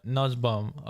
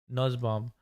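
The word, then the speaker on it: Nussbaum: just watch a video Nuzbum. N I said it right. Nuzbum. Okay. Like bum. Nuzbum.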